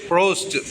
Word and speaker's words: Proust: और एक French novelist Marcel प्रोस्ट, PROUST, प्रोस्ट, हमको लगता है प्रोनाउंसिएशन प्रोस्ट ही होगा, ठीक है.